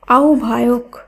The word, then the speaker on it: আহ্বায়ক: একই সূত্রে আহ্বায়ক এটি ভুল উচ্চারিত শব্দ, এর শুদ্ধ উচ্চারণ হবে আহ্বায়ক। এখানে হয় বয়ের পরিবর্তে ও ভ ব্যবহার করা হয়েছে।